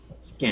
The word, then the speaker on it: skink: Skink. Skank with an E.